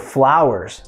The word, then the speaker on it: flower: What about a bouquet of flowers? Flower, flower. Primeira sílaba é a tônica, flau. Segunda sílaba é a átona. Ou seja, o schwa vai estar lá. Por isso que a gente fala flower.